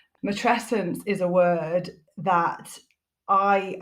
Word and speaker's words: matrescence: uh yes you have said it properly I pronounce it matrescence matrescence is a word that I am on this